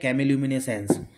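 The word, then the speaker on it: chemiluminescence: और नेक्स्ट आती है cam lumen sense chemo lumen sense lumen sense अलग है कैमी अलग है तो कैमी लुमिनस है इस तरीके से अपन इसको पढ़ेंगे प्रोनाउंस करेंगे इट इज अनदर वे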